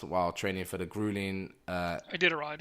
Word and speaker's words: Iditarod: Iditarod. How do you say it? Iditarod, thanks.